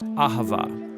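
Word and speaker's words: אהבה: languages as it is in ancient Hebrew it's pronounced aava it most basically refers to the kind of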